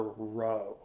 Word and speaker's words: rho: but really that's a lowercase Greek letter row um which is spelled rho that's the letter that